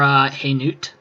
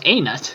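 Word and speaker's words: Hainaut: Well, part of the Greater German Culture Group, except for Haynut, whatever. No. You know, the H is silent and... oh, it's Anut.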